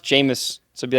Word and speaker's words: Jameis: p p penis Winston it is pronounced jamus so it be like